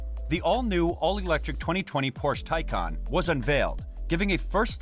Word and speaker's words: Taycan: In reference to the stallion at the center of the Porsche crest, the name Taycan, which is pronounced as Taycan, means lively young horse.